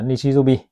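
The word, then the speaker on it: 日曜日: Và cuối cùng là tiếng chủ nhật thì chính là chữ nhật là nichijobi.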